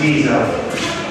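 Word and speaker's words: ghisa: In Italian it's Giza. In English, geezer is something else.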